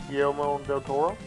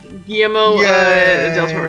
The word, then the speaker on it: Guillermo del Toro: Guillermo del Toro. Guillermo del Toro.